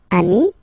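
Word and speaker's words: amis: in that case and as in most of the cases you won't pronounce it but you will have to put it okay and so you get de Ami okay and if you like so the link between the two you will get the semi okay they send me so Ami remember doesn't change even if you get to write the S then you don't pronounce it okay and now let's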